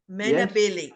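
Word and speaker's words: Menabilly: Billy I've been there Mana Billy Mana Billy that's how we say it just in case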